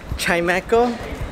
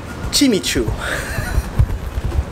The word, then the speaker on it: Chimecho: thank you chime echo I Google how to pronounce this guy's name because I didn't want to sound stupid and I'm reading it right but Chimecho is the correct pronunciation based on the Pokemon episodes and pay attention which